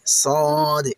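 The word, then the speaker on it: صاد: এটি উচ্চারণের সময় মুখটা গোল হয়ে যাবে এবং আওয়াজটা অনেক ভারী বা মোটা হবে। শুনুন আমি কিভাবে বলছি। সদ সদ সাধারণ সিনের মত পাতলা করে কিন্তু হবে না মনে রাখবেন সাধারণ সিনের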